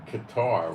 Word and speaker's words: Qatar: The ones that are really running the war are sitting in Qatar, or Qatar, however you want to pronounce it, in a 5-star hotel,